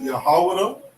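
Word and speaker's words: יהודה: Okay, we pronounce it Yahawada. And we would spell it like this. Okay, we have a Yah, a Ha, a Wa, a Da, and a Ha. Yahawada. Okay? This is the correct spelling and the correct pronunciation of Judah. Okay? Judah is English, this is the Hebrew, Yahawada.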